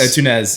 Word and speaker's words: Antunes: Yeah, How do you say his last name? Antonu. Joao Antunes. Antunes.